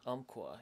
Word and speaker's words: Umpqua: Umpqua? Umpqua, yeah. Do you know how to spell it?